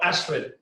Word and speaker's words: Ashwin: by ashwin and not ashwin right so sorry i know it no that's fine i'm pretty unapologetic about the indian pronunciation if you could say ashwin would be great all right cool